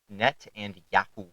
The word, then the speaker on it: Netanyahu: How do you pronounce his name? Disavow. Netanyahu. Netanyahu. Net and Yahoo.